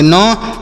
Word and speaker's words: knee: KNEE नी, के silent है यहाँ पर इसे नहीं पढ़ा जाएगा।